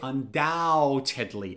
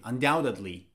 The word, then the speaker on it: undoubtedly: was undoubtedly listen up b is silent so you don't say undoubtedly no you don't pronounce the b you say undoubtedly undoubtedly or you can also